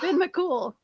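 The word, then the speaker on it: Fionn mac Cumhaill: like what oh god the hero's name is pronounced ben mccool um dan i will tell you how it's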